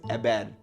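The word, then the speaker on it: Héber: We don't pronounce the H when it's in the beginning, so I think it's Ebed.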